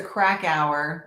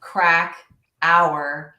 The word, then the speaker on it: Krakauer: So my name is Teresa Krakauer. I usually say crack hour, and it's easy to Krakauer.